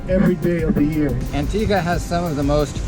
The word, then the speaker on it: Antigua: favor Spanish Nazis the original Christopher Columbus it's pronounced Antigua Christopher Columbus was the first European